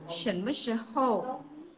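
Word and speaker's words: 什么时候: Jadi untuk bertanya kapan, kita akan menggunakan shen me shihou. Kali tak ulang. Shen me shihou. Shen me shihou. Shen nada 2, me netral, shi nada 2, hou nada 4.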